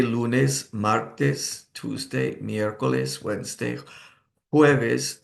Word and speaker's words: jueves: The weekdays would be Monday, lunes, martes, Tuesday, miércoles, Wednesday, jueves. The J is pronounced like an H, and viernes, Friday.